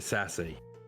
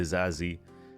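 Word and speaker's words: Disasi: uh the new signing apparently you say his name disassi yeah something like that I mean I would pronounce it to sassy The Sassy yeah that's what I was saying too but apparently it's the zazi which is you know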